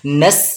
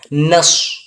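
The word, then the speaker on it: نصر: রাকাত টান যাবে জ অনেকজন সদকে সিন উচ্চারণ করে করে নাস বলি তো নাস হবে না মুখটাকে হালকা গোল করে পুরভাবে উচ্চারণ করবেন নাস এবার পুর করতে গিয়ে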